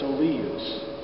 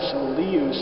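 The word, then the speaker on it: solius: The word in Latin, solíus, is accented on that middle syllable. And so in order to convey the accent, we stretch that last note a little bit.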